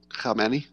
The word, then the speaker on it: Khamenei: And notice how well I pronounce that, Khamenei.